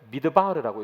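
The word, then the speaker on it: מדבר: 이렇게 순서가 봐야 됩니다 위에 있는 단어는 미드바르라고 읽어요 광야라는 뜻입니다 예수님께서 지금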